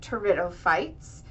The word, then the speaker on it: pteridophytes: also call this group tto fites um which is similar to pterodactyls and that the p is silent and your terites have roots stems and